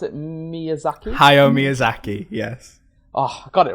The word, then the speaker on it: Miyazaki: pronounce it Miyazaki? Hayao Miyazaki, yes.